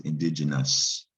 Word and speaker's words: indigenous: indigenous it's still pronounced indigenous it's like that o is silent and the g let's